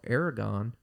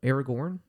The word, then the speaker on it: Aragorn: against the dark lord while Aragon no Aragorn there we go I mean it's pronounced that way but yeah yeah no Aragorn uh Legolas and Gimli